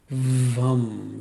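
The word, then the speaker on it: वं: The mantra is VUM. V as in Victor, UM. VUM.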